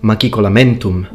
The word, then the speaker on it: machicolamentum: It was pronounced machicolamentum. And as an Italian, pronouncing CH as a K, it's actually very natural for me.